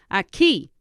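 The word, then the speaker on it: aquí: word for here is a key how would you spell a key the the k sound in Spanish is spelled with a Q so a key would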